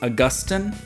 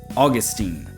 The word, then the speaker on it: Augustine: You may have heard the name pronounced Augustine. That is valid. That is the British pronunciation. So today we're going with Augustine.